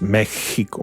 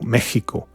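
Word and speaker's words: México: in in Mexico and you pronounce it like J like Mexican J like remember the cat sound that's the way to pronounce Mexico Mexico Mexico with the accent in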